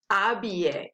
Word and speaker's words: habiller: Habiller, right? Because it starts with an H. So don't forget that since we don't pronounce the H, the word actually starts with a vowel sound.